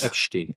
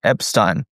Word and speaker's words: Epstein: Call him Epstein. Epstein? Why? Because I love the German pronunciation. Epstein.